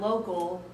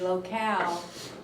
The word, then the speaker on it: locale: picking on Joel but it's not local to local is without the e locale is the way it's a noun step forward one more